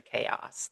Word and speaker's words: chaos: Guys, I know English is a chaos. That's that's another good pronunciation.